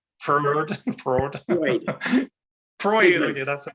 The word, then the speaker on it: Freud: I always call him Frog, but apparently it's the wrong pronunciation. Freud.